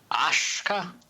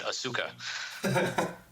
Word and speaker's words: Asuka: Aska toshka noshka yeah Aska yes like an Oshkosh Wisconsin yeah Oscar Oscar Oscar Oscar just don't do it Kurt Angle did the first time he was on TV and said asuka Oscars Oscars much better